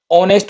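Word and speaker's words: honest: जैसे एन ऑनेस्ट में ये एच साइलेंट है, तो इसकी जो वर्ड है इसकी ओ से शुरू हो रही है, ओ क्या है, एक वोवेल साउंड है।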